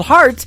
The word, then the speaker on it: Hart: good friend Robbie Hart it is HR t on her last name and that is called heart in two places yeah I just like your heart that how that's spelled and uh she is